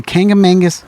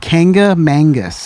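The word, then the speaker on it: Kancamagus: But there's a Kangamangus Highway in Concord. How do you say that? Kangamangus. Kangamangus. Is that 2 different words? That's one word. One word. Kangamangus.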